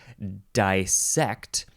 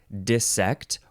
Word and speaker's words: dissect: word in this episode which is dissect or dissect or dissect emphasize either syllable and the first syllable can be die or D dissect d-i-s-s-e-c-t it is